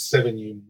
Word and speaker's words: Sevigny: for Oh interesting yeah I think I heard 7 you more often than others I believe it's a French name or you know if not French then perhaps Basque yes and so the